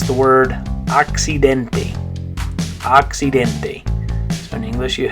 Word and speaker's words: accidente: the word accident, in Spanish it's the word accidente. Accidente. So in English you have accident, in Spanish accidente. Okay, so in English you'd say accident, in Spanish how would you say it? Accidente.